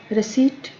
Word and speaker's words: receipt: Receipt, P is silent.